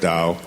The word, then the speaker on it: Dao: as I've been researching aism which is spelled t AO i m t o the da the word Dao is just a word